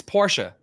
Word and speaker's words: Porsche: your question Porsche um you cut off the E you don't pronounce the E it's Porsche okay Porsche yeah Porsche Fant